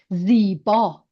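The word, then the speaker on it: زیبا: And this word, ziba. Beautiful. Yes. Ziba. So ze, long vowel of E, and then Ziba. ba, ziba, ziba.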